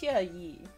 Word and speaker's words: Xueyi: And there was another very sweet girl who pronounced it Suey, and I'm like, "That's closer." And I can see it's Xueyi. And like, we don't really have those sounds in English, so it makes sense.